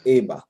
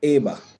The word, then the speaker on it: eba: And to leave or go, we pronounce it eba. Some write it with an A, some write it with an E. But eba, to leave or to go.